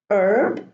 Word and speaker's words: herb: at the end o the H is silent here herb Stern okay so it's